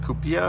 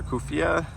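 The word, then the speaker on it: Cuphea: And I the red ones I think it's pronounced kupia or kufia.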